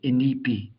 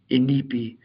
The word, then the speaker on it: Inipi: The the sweat lodge name in Cherokee is Inipi. Inipi, which kind of rhymes with tepee if you want to remember.